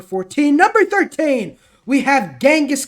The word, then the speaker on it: Genghis: number 13 we have genghis khan or as he should be known as chingus khan i might have no idea there's like five different ways to pronounce this guy's name now apparently it's chingus now used to be genghis um it used to be something else he used to be like genghis without the h or something i